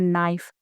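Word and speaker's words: knife: ऐसे जैसे हम इंग्लिश में पढ़ते हैं नाइफ। चाकू छुरी वगैरह जो होते हैं हम कहते हैं नाइफ। लेकिन वो लिखा जाता है के के साथ।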